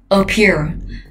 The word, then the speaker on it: appear: Những từ có hai âm tiết mà cái âm tiết đầu tiên là cái chữ A ấy, chữ chữ đầu tiên ấy là chữ A thì thường trọng âm sẽ rơi vào âm tiết thứ hai. Appear. Trọng âm âm tiết thứ hai kem nhé, bởi vì chữ A đầu tiên ấy thường đọc là âm ơ, appear trọng âm hai này.